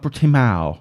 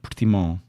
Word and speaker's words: Portimão: And it's spelled, and it said, it's not Portimao, it's Portimão. Portimão. How do I know? I'm from this town. It's estás em Portimão. That's how they say it. But in Portuguese, without that specific accent from the area, which is very, very, very thick, it's Portimão. Okay?